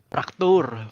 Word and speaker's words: Fracture: Fracture. Fraktur. Bacanya tuh gini loh.